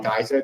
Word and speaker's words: GYSR: Basically, you stake liquidity on Uniswap, and you just basically stake the LP on something called Geyser. That's spelled GYSR.